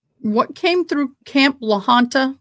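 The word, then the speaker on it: La Junta: Like what came through Camp Laanta, which is how you say it, Camp Lahana or everybody does here.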